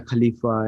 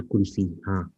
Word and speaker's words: Khalifa: Mia Kulfi. Something, Mia whatever. Khalifa. Same thing, same thing. Yeah, proper nouns. You can pronounce them anyway.